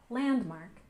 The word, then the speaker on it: landmark: next we have Landmark we stress the first syllable Landmark landmark and this refers to